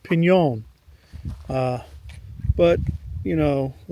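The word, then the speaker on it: piñon: It's really pronounced pon. Uh, but you know, a lot of people just pronounce it pinion because they don't use the correct pronunciation where I live.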